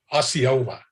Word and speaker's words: Osceola: Osceola. I have to remember how to pronounce it.